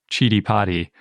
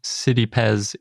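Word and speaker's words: Citipes: writing it out yeah i kept wanting to call this pez because i recently found out it was called chidi potty but then i found out no it's city so anyway it's just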